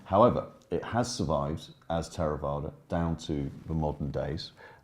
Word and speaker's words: Theravada: work came from Martin in in Pali I pronounced it tera vaada ther evader is perfectly acceptable as well and it is